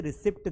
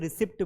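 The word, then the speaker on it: receipt: रिसीप्ट बोलते हैं। लेकिन वो भूल जाते हैं कि यहां पर ये पी साइलेंट है। इस पी को उच्चारित प्रोनाउंस नहीं किया जाता है।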